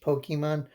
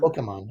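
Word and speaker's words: Pokémon: The e is always a pronounced a when you're speaking a Japanese word. So I I guess I would say Pokemon.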